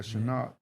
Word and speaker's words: Chenault: And your top receiver, man, I can't even pronounce this name right here. Chenault. Laviska Chenault. Yeah, Chenault.